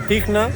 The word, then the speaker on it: Tihna: Cuando tú estás en estado Tihna es porque tú estás chill, estás perfectamente tranquilo.